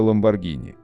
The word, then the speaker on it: Lamborghini: Итальянский производитель дорогих спортивных автомобилей называется Lamborghini. Согласно правилам чтения в итальянском языке, если после G стоит H, то оно читается как G. Однако в России настолько распространено